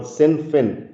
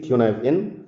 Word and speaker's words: Cynefin: all you leaders out there because using this Kunav in framework or sinfin in English if you exactly pronounce the word the the word but it is actually kunive in so this is a very good framework for